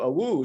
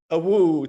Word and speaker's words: AWU: which is motion to a wu so obviously our acronym from union is awu and if you pronounce that that actually sounds extremely like a wolf holly so it has